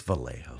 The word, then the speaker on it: Vallejo: I mean, like you can't pronounce the l's one language and then the j in the other language and just say, "Oh, that's right."